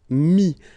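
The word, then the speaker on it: mis: Mi, same thing here, final s is not pronounced.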